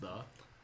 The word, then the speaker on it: Ye: that was actually just a stylized way of spelling. It actually is still just pronounced the.